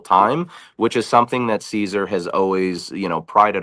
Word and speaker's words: Siser: like, "Wait a minute, it's not Siser and it's not Scissor." The company name is Caesar.